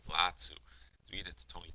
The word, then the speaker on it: Latu: gets taken down by late two. I'm pronouncing it differently from when I pronounced it earlier. I think it's actually late two Latu.